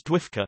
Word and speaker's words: Dwifca: when the Doctor Who Fan Club of America, pronounced by members as Dwifka, now defunct, published the Wovian Times as its newsletter.